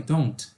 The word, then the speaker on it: don't: curtinha, no, I don't, esse T ele é pronunciado, mas numa frase, como aqui, assim, numa sentença, né? Nós não vamos pronunciar esse T aqui, ó. Então, você não vai falar I don't live. Você fala I don't live. He doesn't live. She doesn't live. Tá? Então, não precisa pronunciar.